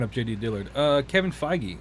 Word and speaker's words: Feige: determined and that's like kevin how do you pronounce his name i was looking up jd dillard uh kevin feige feige okay so kevin feige is also getting his